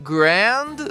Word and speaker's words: grand: Grand soa como grand, sendo necessário enrolar a língua na letra R.